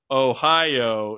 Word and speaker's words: Ohio: chance come on Ohio come on oh Ohio in two Snappy syllables the official version of my mind while the rest of the stadium would simultaneously chant the traditional Ohio in three syllables I can understand look